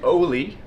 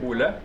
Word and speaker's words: Ole: And his name was Ole, which is an American pronunciation of a very Norwegian name, Ole.